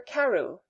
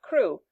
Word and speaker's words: Crewe: Madame Pascal pronounced it as if it were Karu instead of crew, but that might be merely a matter of pronunciation.